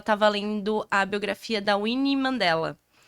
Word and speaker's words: Wíne: outro significado então e meu nome é Winnie w n e e era para ser escrito w n n i e Win mas ele escreveu